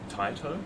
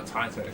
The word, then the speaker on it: Taito: actually pronounced Taito. Oh, Taito.